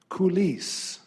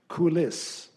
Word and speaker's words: coulisse: The word is coulisse. Coulisse. Alternate pronunciation, coulisse.